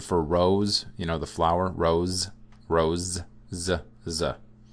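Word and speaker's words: з: It's simply the Russian z. So like Z in zone, z. It's their Z sound.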